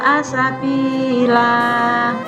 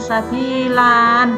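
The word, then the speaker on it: سبيلا: Nahwu Khana fahisyah website assabila membacanya Jangan sabilan jangan karena ini Fatih tanwin kalau di berhenti waqaf harus dibaca fathah panjangnya satu alis Faiza assabila dan janganlah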